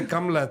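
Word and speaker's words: Kamala: is the correct pronunciation we're goingon to say kamla here okay kamla thank God thank you so much uh I can't say it the American way kamla Harris puts that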